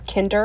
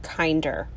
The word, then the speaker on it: Kinder: eggs okay so apparently there is a debate on whether this is kinder or kinder so the reason i say kinder is because of my german sister that's always how she pronounced this brand kinder but i'm guessing america it's kinder so you might hear me say it both ways this is our first